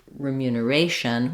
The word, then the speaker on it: remuneration: second syllable remunerate but when we have the Asian ending donation uh remuneration we're stressing on that a so we just have